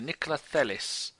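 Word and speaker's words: Nikolaj: Do you pronounce the J? I don't think you do. Nicolais.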